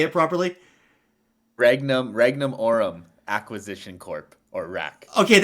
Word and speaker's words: Regnum Aurum: Can one of you please pronounce the Latin shit for me so I can understand? I can say it properly. Regnum Aurum Acquisition Corp or RAAC.